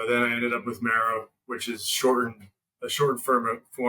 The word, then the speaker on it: Maro: is it pronounced Maro or how do you pronounce it yeah so it's it's Maro so what I did I was I was